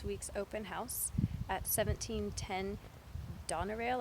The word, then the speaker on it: Donerail: open house at 17:10 Donna rail I believe it's how you say it do n ER ail like in that address is